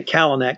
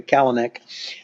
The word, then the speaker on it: Kalanick: He started with the senior leadership, which of course is, I have to say Kalanick because I grew up with a guy who pronounced it like that. So I'll just say Kalanick.